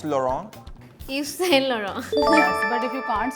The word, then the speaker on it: Yves Saint Laurent: या सेंट लॉरेंस. ऐसे नहीं बोलते इसको. अब बताओ. It's Yes Chez Laurent. क्या क्या? Yeah. Yes Saint Laurent. I think that's the correct pronunciation.